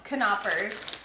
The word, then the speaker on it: Knoppers: Knoppers. Tim says the K is pronounced, so Somebody in the comments told us. That's the only reason I know. Knoppers.